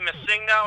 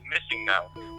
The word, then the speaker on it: MissingNo: I always called it Missing No. Because it's Missing Number, so Missing No. Yeah, okay. So I for some reason, I always pronounce it Missigno, even though I knew what it stood for. I put the emphasis on the wrong syllable.